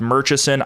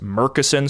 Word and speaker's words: Murchison: which, by the way, this name looks like it should be pronounced Murchison. I read in a few places that it's pronounced Murchison, so that's what I will do.